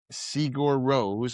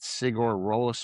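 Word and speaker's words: Sigur Rós: Um I didn't know how to pronounce it then. I've since tried to figure it out. But um it is Sigur Ros. I think I called it Sigur Ross or something.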